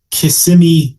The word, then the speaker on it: Kissimmee: We're talking Kissimmee, Florida.